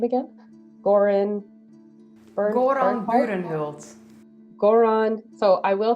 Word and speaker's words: Burenhult: But I will say that Bernhardt or Bernhorlt, how do you say his name again? Goran Burenhult.